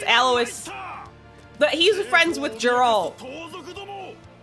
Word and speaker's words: Alois: It's Alois. Aloy. I don't know how to say it. I think it's Alois.